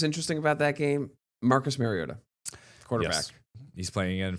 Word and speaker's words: Mariota: And I'm wondering if he said it and he's like, guys, it's Finally really said pronounced it Mariota. after 10 Something like years that.